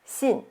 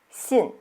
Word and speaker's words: 信: And next one is 信, believe. 信. Notice here, the mark is going down, so it's the fourth tone, sharp falling tone. So let's try it with me. 信.